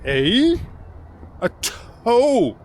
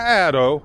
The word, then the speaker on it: ATO: Oh yeah, Extra man, the ATO is pronounced like a toe of your foot. ATO, not Atto, not Otto.